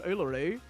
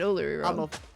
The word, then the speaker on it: Uluru: I worked down the road from Ularoo. Oh, you said Uluru.